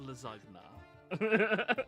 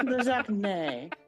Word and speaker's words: lasagne: Actually, it's lasagne, but I thought it was nay as well the first time I heard It's it. lasagna. it's lasagne. Anyways, I invented it, Oh, marvelous.